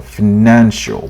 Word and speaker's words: financial: only just only just stress on financial stress on the second syllable financial financial financial okay we only just paid or car or car last month.